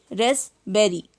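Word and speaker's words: raspberry: Next है रेसबेरी, इसको रेसबेरी बोलेंगे, पी नहीं पढ़ेंगे, रेसबेरी नहीं पढ़ेंगे, रेसबेरी।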